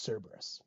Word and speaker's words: Cerberus: tail curus curus curus it's Cerberus my emphasis is wrong Steph has a comma